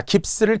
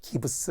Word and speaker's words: 깁스: 글로브 이렇게도 이야기합니다 자 깁스를 기스라도 종종 많이 이야기하더라고요 깁스 겠죠 일본식발음 받침없이 기브스 이렇게 하지 말고요 스 나르시즘 자 도치를